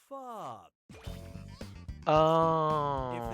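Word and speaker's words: phở: got it Pho oh this delicious soup is pronounced F oh okay I see what you say this one's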